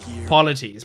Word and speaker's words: Polites: Polies polies. Polies. It's like the word policies.